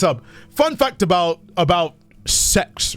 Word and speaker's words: CeX: not I'm not joking they actually genuinely pronounce it as sex the store is pronounced sex it is a um